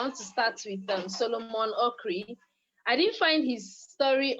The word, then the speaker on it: Okyere: to start with Solomon Okri. I didn't find his story on Google, but I'm going to give you his proper name so you can check. Solomon is Solomon, but Okri is spelled Okyere.